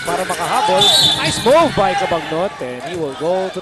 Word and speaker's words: Cabagnot: Hindi ang pronunciation ng kanyang pangalan, Cabagno. Actually, he mentioned that, of course, in Hawaii, they don't say Cabagno, they say Cabano.